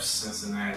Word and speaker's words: Cincinnati: I think that's how it's pronounced. Yep, Cincinnati.